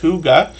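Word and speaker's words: Hygge: see that channel h y g g it's pronounced Huga and if you read their about page you'll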